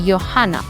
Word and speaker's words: Johanna: all the German words, pronounce the J as Y. Like for example, if you have the word Johanna. Johanna starts from J. It's like JH, but you don't say Johanna, you say Johanna.